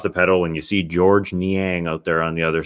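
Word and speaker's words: Georges Niang: of the names was george niang uh we announced the players before the game i remember saying oh yeah george niang you don't pronounce the s it's not george's well we were like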